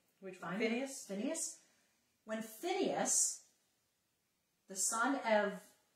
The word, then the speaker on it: Phineas: Phineas.